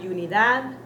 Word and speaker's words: unidad: Not unidad, but unidad. Unidad. That is the proper pronunciation.